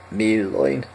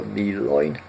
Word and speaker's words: milloin: Milloin, and again there is a double L, so milloin.